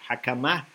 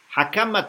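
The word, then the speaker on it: حكمة: job is called hakama it's written like hikmah but it is pronounced differently hakama hakama - dubbed by Mohammed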